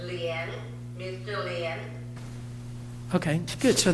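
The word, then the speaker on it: Lian: The spelling is L-I-A-N. Pronounced as Lien.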